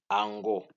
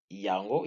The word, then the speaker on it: yango: Kinoa, when you talk, the Y sound on Yango is silent and it's pronounced as Ango. Ango. But if you pronounce Yango, it's also fine.